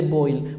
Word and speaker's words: Boyle: Ahora, tenemos todas estas leyes, comenzando con la ley de Boyle, así se pronuncia, ley de Boyle.